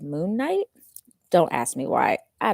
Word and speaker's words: Moon Knight: I keep calling him Moonlight instead of Moon Knight.